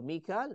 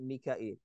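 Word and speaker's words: Mikail: There's two ways to say the same name. So Mikal, Mikael. Jibril, Jibrail. Referring to the same angel. It's not two different. So it's two different ways to pronounce something.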